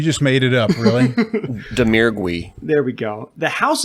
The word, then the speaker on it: Domergue: an outstanding performance along with, how do you pronounce it again? Faith Domergue? The House... We just made it up, really? Domergue.